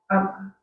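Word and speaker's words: ἁμαρτία: So the lexical form is Hamartia. hamartia. You pronounce the hard. Yeah, it's hamartia. Okay, Hamartia.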